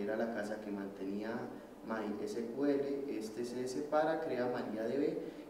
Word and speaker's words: MySQL: Tiene entonces MySQL, no se dice así, MySQL.